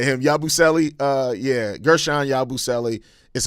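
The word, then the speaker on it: Yabusele: Uh yeah, Gershan Yabuselli is how you pronounce his name, but yeah, I like him a lot, too.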